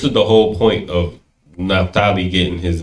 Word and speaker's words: Naphtali: Whenever you see the PH in English, it's usually like they want to pronounce it Naphtali. In the Hebrew, it's a pa.